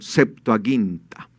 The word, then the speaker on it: septuaginta: hizo se conocería como septuaginta esa es la forma correcta de pronunciarla septuaginta Aunque ustedes van a